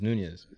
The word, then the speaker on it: Nunes: People get mad because you keep on saying Nunes when it's Nunez. You don't even know how to say it.